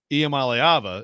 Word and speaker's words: Iamaleava: I want to emphasize the second syllable. You do. Iamaleava is correct.